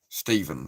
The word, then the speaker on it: Stephen: Because Stefan is Stefan, right? That's Stefan. Stefan. And it's Stephen, if it's spelt with the PH.